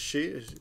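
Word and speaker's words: 四: passed it up to so it can be pronounced Yong or she so anyway the point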